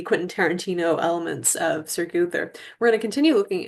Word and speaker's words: Gowther: for S sir guther excuse me guther spelled like this not intuitive spelling alas um and it should be Mets editions.